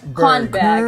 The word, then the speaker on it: Kornberg: Está bien, nadie sabe pronunciar mi apellido de todas formas, así que están... Kornberg, en realidad, alemán, judío.